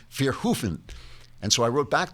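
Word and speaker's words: Verhoeven: said you're mangling Paul verhoven name verhoven pronounces his name f hofen and so I wrote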